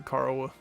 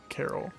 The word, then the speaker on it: Carl: Carl is Carol or Carl but with minus alt tune stats. It's Carl, right? It's not pronounced Carol. It's definitely Carl, right?